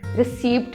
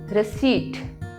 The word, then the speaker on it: receipt: जब हम शॉपिंग करते हैं तो हमें एक रिसीप्ट मिलती है. स्पेलिंग्स में होती है रिसीप्ट, बट the correct pronunciation is रिसीट. इज रिसीट.